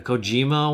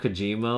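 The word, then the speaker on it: Kojima: the Cojima Awards. Didn't someone uh say his name wrong? He said like Hideo Kojimo or something.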